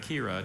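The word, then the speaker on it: quira: Melinda preferred the pretty grain pattern of the table made of Kira to the pine table that her parents liked. Kira. Are there any alternate pronunciations?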